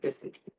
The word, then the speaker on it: Byzantine: I've heard it pronounced different ways depending on which videos you're listening to and who says it, but any American, presentations on it will pronounce it Byzantine.